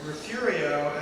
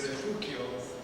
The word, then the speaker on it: Refugio: He's a member of your Refurio, actually it should be a Refugio, but as you all know, we mispronounce it probably on purpose because it's a Mexican word, and we weren't pleased with those back in the old days.